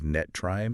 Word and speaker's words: NTREIS: an actual industry insider, you pronounce as NTREIS.